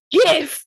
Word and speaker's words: GIF: looking at the dean Gi Oh right you said that like that on purpose it's a gift it stands for graphic it's a hard G but like this is